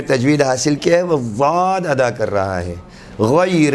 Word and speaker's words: ضاد: ادا کرنا بھی صحیح۔ یہ ضاد کبھی بھی باریک دال یا پر دال کے مانند نہیں ہے، بلکہ اس کے تلفظ کو سننے والا ممکن ہے حرف طا ضا والے ضا سے تشبیہ دے دے، لیکن دال سے تشبیہ